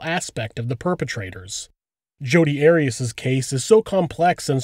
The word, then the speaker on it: Arias: I've heard it pronounced about 7 different ways. I say Arias, as does the rest of my family.